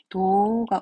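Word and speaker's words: 動画: 쓰면 되겠죠 유튜브 동영상을 일본어에서 동영상 발음하지 않고 그냥 도가 움직이는 화면인 거예요 움직이는 그림 도가를 읽으시면 돼요 도가 모 보고도 보고도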